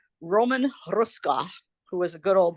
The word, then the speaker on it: Hruska: He got him out 6 months early because he called Roman Hruska, who was a good old Bohunk, Democratic Bohunk. Yeah. His name is spelled Hruska, but it's pronounced Hruska.